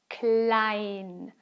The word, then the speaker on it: klein: emma here we have the letter combination e i which is an i sound klein i e is e and e i is i okay so it's ca klein